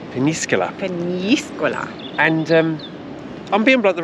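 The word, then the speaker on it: Peñíscola: Not as some of the Brits pronounce it. No. It's a nya in the middle. Peníscola. Peníscola.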